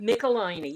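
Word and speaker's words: Michelinie: Michelini. It's tickle my knee, is what he always told me. So remember, tickle my knee, and you'll never mispronounce Michelini again.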